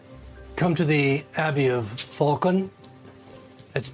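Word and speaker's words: Phaulkon: So, when you return, um, come to the Abbey of Falcon.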